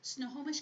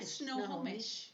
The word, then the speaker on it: Snohomish: Snohomish County 4-H tax sale. That's right. That's Wow, where you it just is. I used to live up there. How do you say it again? Snohomish.